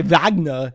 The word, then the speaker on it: Wagner: important it's important that when you say vagna you say it like Arnold Schwarzenegger Wagner because otherwise Ralph will